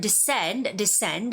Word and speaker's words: descend: And the word descend has the second syllable stress.